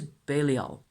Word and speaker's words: Belial: communing with to amazing effect myself, who is Belial. That's my pronunciation.